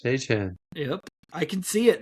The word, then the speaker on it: Etienne: It doesn't look like Etienne, but apparently Travis told everyone it's pronounced Etienne.